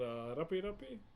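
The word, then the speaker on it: rape: The design here is called Rapi Rapi. This design here, so the way it's spelled, please don't get it twisted with English, is R-A-P-E. R-A-P-E is how you spell it.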